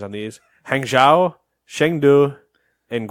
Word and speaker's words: Chengdu: Oh, it's Chengdu. Yeah. All right, so Hangzhou, Chengdu, and Guangzhou. Guangzhou. Guangzhou. Yeah. Okay. In case you're curious, if you want to get more Nate pronunciations on these, Hangzhou, Chengdu, and Guangzhou is how I would.